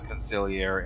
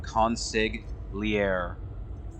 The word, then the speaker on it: consigliere: I genuinely do think the G for conciliare is just there to spell it right. Like, oh, how do you spell conciliare? Consigliere.